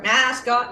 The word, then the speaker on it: MSCOT: Go by MSCOT in chat in gold lettering, and you can find me MSCOT or mascot as it's supposed to be pronounced.